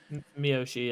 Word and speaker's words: Miyoshi: the one of uh miyoshi that's how you pronounce him miyoshi uh um he plays the cosplay as a